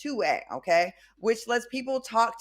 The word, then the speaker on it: 2WAI: Now, former Disney star Callum Worthy is stirring up some controversy with his new app, 2WAI, pronounced 2A, okay?